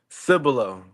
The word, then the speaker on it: Cibolo: the new fourstar commit from hopefully I pronounced this right, Sibola, Texas. Welcome to the show my man. Here we go. How you doing? Doing amazing. Doing amazing. That correctly. Cibilo.